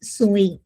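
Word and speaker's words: ζωή: e en el griego y esta vida que habla Juan es soé en griego, porque en la Biblia,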